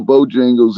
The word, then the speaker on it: Bojangles: of this stuff no I've never been to Bojangles either is that how that's pronounced Bojangle yeah bojang Bojangles or Jangles yep